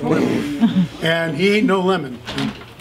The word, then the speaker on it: Lemann: Like Lehman, but it's pronounced Lemon.